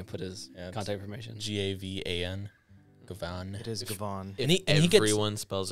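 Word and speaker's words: Gavan: it yeah paul gets it um speaking of gavin trying to set you up sorry softball pitching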